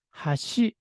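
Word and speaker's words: 橋: 번째 박을 낮게 발음하고요 다리의 의미를 나타낼 때는 하시 이렇게 해서 첫 번째 박은 낮게 두 번째 박은 높게 발음을 합니다 따라서 일본어를 고저 악센트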